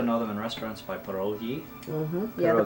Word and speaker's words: pierogi: know them in restaurants by pierogi Yeah, the Pierogies. Polish people have the hard G.